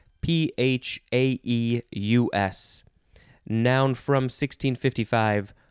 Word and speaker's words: coryphaeus: I don't know what they do, but they are the coryphaeus. Yep, that's how you say it.